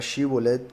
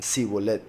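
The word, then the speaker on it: שיבולת: Entonces, ellos pronunciaban Sibolet, ellos lo pronunciaban con Samech, la letra del mes, curiosamente, la palabra Shibolet con Shin, pero ellos pronunciaban Sibolet con Samech.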